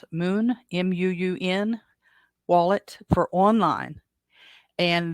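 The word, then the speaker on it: Muun: look at them I don't know how you pronounce it Moon m-u-u-n wallet for online and then Tresor wallet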